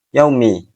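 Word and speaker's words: يوم: Kemudian kesalahan yang selanjutnya adalah pengucapan yaumi terlalu cepat. Seperti contoh yaumi. Yaumi wunnya tidak ter baca dengan sempurna. Yang benar adalah yaumi. Yaumi. Yaumi.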